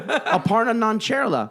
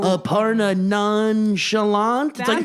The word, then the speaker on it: Aparna Nancherla: name ninja - ninja - like a partner Aparna nancherla I watch so many people be like no Aparna nonchalant like every comedian still says Hasan Minhaj when